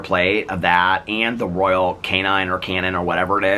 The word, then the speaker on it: Royal Canin: It's like the Royal, I guess somebody said I pronounced it wrong. I think I said that already, Royal Canine, but I guess it's Royal Canin or something like that.